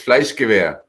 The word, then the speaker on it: FleischgewehR: It's FleischgewehR.